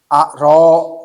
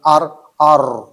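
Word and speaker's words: ر: Ro itu sifat tawasud, bukan ar. Jadi ada ar, bar, bukan ar.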